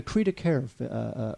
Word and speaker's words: cri de coeur: And really, this movie it's like a cri de coeur, Wade.